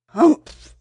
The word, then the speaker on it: Humph: said the sand fairy If you read this story aloud please pronounce humpf exactly as it's spelled for that is how he said it Humph Do you know until